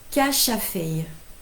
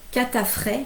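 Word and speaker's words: katrafay: Alors Coralie me dit que Catrafet se prononce Cachafei. D'accord, Cachafei. Ok, moi je ne savais pas du tout. J'ai toujours appris Catafret même.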